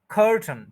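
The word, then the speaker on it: curtain: introduce करवा द तो first syllable है खर और सेकंड है ठन ठन आप देखें ठी के फौरन बाद एन बोला जा रहा है ठन तो स्ट्रेस देना है र के ऊपर तो ये बनेगा कर्टन टू सिलेबल्स है फर्स्ट सिलेबल पे स्ट्रेस है कर्टन कर्टन कर्टन तो टी और एन के बीच में जो ए और आई है उसको नहीं बोला जाएगा यह सब लोग ऑलमोस्ट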